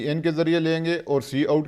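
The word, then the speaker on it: cout: ये चीज है की आउट को हम क्या प्रोनाउंस करते हैं सी ओ यू टी ये जो लिखा हुआ है इसको हम सी आउट प्रोनाउंस करते हैं और उसे फॉर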